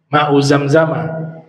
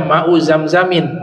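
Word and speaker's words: ماء زمزم: wajhil Ardi ma zamzama Zamzam dibacanya tidak tanwin ya makanya dibaca fathah mauzamzama jangan di dibaca Mau zamzamin ya mau zamzama air yang paling terbaik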